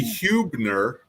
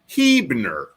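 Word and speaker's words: Huebner: We also have what should be Hubner, but it's Hebner.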